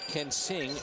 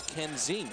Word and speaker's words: Kensing: It's spelled, and you think it's Kensing. It's not. It's Kenzing. Zing.